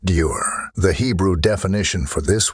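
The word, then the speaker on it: דור: have required using this Hebrew word, which is pronounced dur.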